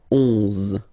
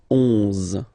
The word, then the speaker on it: onze: 11, 11, okay, so O plus N give you the sound on, onze, onze, okay, final E doesn't exist phonetically, onze, okay, douze, douze,